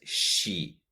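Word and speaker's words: she: ver como dice ella ella se dice sí si no es que es si con una pronunciación de y el final si te fijas en la fonética es el sonido de la s h y después la y como por ejemplo cuando digo la palabra sushi sushi esa comida que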